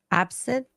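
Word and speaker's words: absinthe: never had any absence is it absent or absence how do you pronounce it absent it's ABS thought absence yeah I thought there is an okay okay well I've never had that before yeah there is an N it's absent there's one of them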